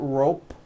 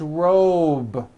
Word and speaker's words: robe: Same thing with robe. Also has a voiced B ending. It's not rope with an unvoiced P. It's robe.